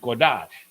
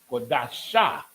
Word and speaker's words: Qadash: And Qadash, Qua, Dash. It could be Qadasha, but this tells us that it's only Qadash.